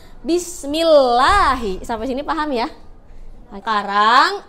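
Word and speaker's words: بسم الله: Kalau tipis ini ada lafaz Allah, sebelumnya ada huruf mim yang berharokat kasroh, makanya dia tipis ya. Bismillahi.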